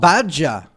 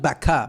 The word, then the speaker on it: baca: Oh, badja. Why do you pronounce like a J? Yeah. A J? Other basic verbs to read, Baca. Badja. Badja. Not baka.